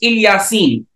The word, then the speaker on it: Ilyasin: uh throughout the Muslim world nowadays it is pronounced ilyasin but there is an alternate reading which reads